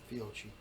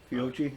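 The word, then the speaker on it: Fiocchi: How do you pronounce that? Fiochi. Yeah. Fiochi ammo.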